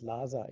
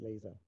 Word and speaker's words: Laser: word laser is because it's pronounced in an English way in German as well uh is is then